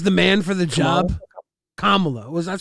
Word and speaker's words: Kamala: Kamla was that's how it's pronounced.